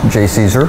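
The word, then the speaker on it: JCESR: for energy storage research which can be pronounced J Caesar J Caesar is a research partnership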